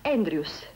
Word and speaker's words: Andrews: E ricordate, si scrive Andrews, ma si pronuncia Andrews.